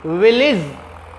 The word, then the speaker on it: village: विलेज, VILLAGE। कौन सा छूटा हुआ है? आई छूटा हुआ है। कौन सी स्पेलिंग बननी चाहिए? VILLAGE। प्यारे बच्चों, विलेज, the word is correctly pronounced as विलेज, नॉट विलेज।